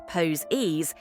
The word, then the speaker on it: Poses: removal the product marketed as poses pronounced pose e consisted of individual strapless